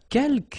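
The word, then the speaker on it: quelques: Uh keelk you don't pronounce the final s here. Keelk means few.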